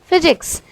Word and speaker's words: physics: For example PH, जिसको हम pronounce करते हैं F। इसका बहुत अच्छा एग्जाम्पल है फिजिक्स, जिसमें होता है PHYSICS, बट हम उसको प्रोनाउंस करते हैं फिजिक्स।